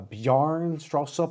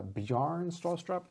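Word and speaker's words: Bjarne Stroustrup: book written by the creator of C++ uh bjarn straw soap I think I might have said it more correctly if I'm saying it wrong please correct me it's a bearn straw strap that is the creator of C++ anyways some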